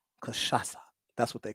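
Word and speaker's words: cachaça: let me see if i pronounce this right kashasa kashasa that's what they call it it's spelled c-a-c-h-a-c-a but that final c has a little squiggle on the bottom like a pigtail and it's called kashasa and uh it's a brazilian beverage brazilian spirit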